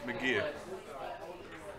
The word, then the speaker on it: McGeoch: So it's McGeer. Yeah. Like MacGyver. Not really like MacGyver. Magoo.